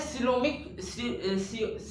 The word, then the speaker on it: coelom: एक minute, सीओमिक fluid, ठीक है, COELM, ये स्पेलिंग होती है, COEL, एक सेकेंड, हाँ, COELOM, ठीक, ऐसा, ये सिलोम क्या होता है, मतलब कहते हैं बॉडी स्पेस,